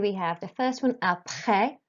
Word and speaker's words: après: So here we have the first one, après, not après. You don't pronounce the S at the end, just the last vowel sound, après le collège.